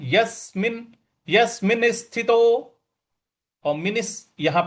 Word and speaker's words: यस्मिन: अगला पद है यस्मिनस्थितो यस्मिन स्थितो यहां पे यस पे हमको बल लगाना है यस्मिन यसिनस्थितो और मिन यहां